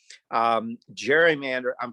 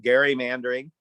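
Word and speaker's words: gerrymandering: were certain categories photo id proof of citizenship gerrymander pardon me i just learned recently it's pronounced gary manbury and i learned that from a league of women voters volunteer um gary mandering and then we also looked at one of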